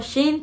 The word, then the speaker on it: Shein: es que esta palabra muchas personas no pronuncian de isla forma alumnos dicen saint jean king la vez que yo le digo sin porque pues no sé se me hace más práctico este nos dan este